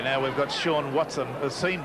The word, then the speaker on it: Sean: Okay, now we've got Sean Watson, Sean Watson rather. That's the way he likes his name pronounced, S-E-A-N.